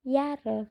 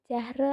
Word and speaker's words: Jahre: Saya umur 19 tahun dibacanya yare bukan jahre atau yahre hanya enggak kelihatan.